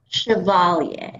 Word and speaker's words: Chevalier: First, you have to tell me how to actually pronounce that name, like the old actress, right? Chevalier. Chevalier. Like people who remember Maurice Chevalier.